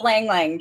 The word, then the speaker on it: ylang ylang: signature scent uh how do you say li ylang ylang is that how you say it it's it's pronounced langling but i love that she pronounces the the